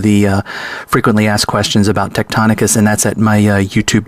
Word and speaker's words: Tectonicus: The program that I use for mapping the Shaft lands is called Tectonicus, which is spelled TECTONICUS.